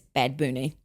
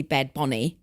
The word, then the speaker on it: Bad Bunny: I brought up people telling us we had to pronounce Bad Bunny as Bad Booney, which I've now found out is also, it's supposed to be Bad Bonnie.